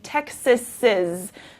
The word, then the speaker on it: Texas's: But you hear in the pronunciation, if the noun is Texas, we say Texas's. So it's sort of that extra Z sound.